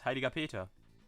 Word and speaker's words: Heiliger Peter: But Zachary, you said it wrong. It's Heiliger Peter.